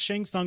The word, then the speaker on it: Shang Tsung: the name someone correctly it's actually Chang it's pronounced shang tsung in the movie so that's how it was